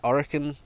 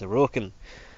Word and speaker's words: Orokin: the orokan I keep I kept saying Orin but I keep getting told it's that's the wrong pronunciation it's aokin so whatever also at the